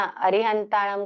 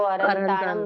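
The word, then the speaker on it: अरिहंताणं: अरिहंताणम को अरंताणम बोल देते हैं। अंतानम बोल देते हैं हम।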